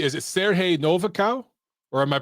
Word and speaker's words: Siarhei Novikau: hey um and hopefully i'm saying is it sergey novakow or am i pronouncing it wrong yeah it's uh you pronounce